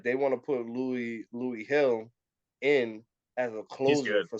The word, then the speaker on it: Gil: How like Louis Hill. He black? Nah, it's some Dominican nigga. Hill is spelled Gil.